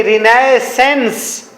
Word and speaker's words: रिनेसां: ये लिखा है मैंने रिनेसेंस, REINAISSANCE, अल्लाह माफ करे इतने लंबे भी स्पेलिंग होते हैं। अच्छा, इसका नाम है रिनेसां, इसे पढ़ते हैं रिनेसां।